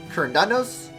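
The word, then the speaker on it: Cernunnos: Plus, the second and third syllables can be said differently, like Kernunos, Kernunos, Kernunos.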